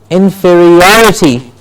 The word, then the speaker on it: inferiority: That's how the correct pronunciation happens. Okay? Examine, examinee. Inferior, inferior. Yes, inferior and inferiority.